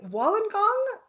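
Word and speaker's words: Wollongong: And I am going to say it wrong because I'm not from Australia, but is this Wallenong Carrie? Wallengong.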